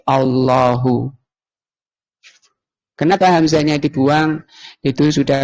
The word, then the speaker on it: الله: Kemudian hamzah tengahnya tadi dan sama yang di n dibuang menjadi Allahu, kemudian bacanya ditafhim, ditebalkan menjadi Allahu.